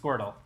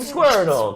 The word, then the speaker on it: Squirtle: Hey there, little guy named Squirtle. Kind of funny that it rhymes with turtle.